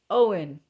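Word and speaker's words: Eoghan: There was a guy from Ireland named Owen. And it was not spelled like the regular Owen. It was spelled like something like E O G H N or something like that.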